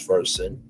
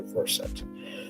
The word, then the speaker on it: Versant: The new company chose Vers um pronounced like the root word root the root of the word conversant to emphasize his versatility and familiarity with multiple subjects.